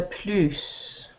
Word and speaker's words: plus: Non, le plus, parce que quel est le type de jardin qui vous séduit le plus, c'est-à-dire davantage. D'accord? Si tu peux remplacer plus par avantage, alors tu dois prononcer le S.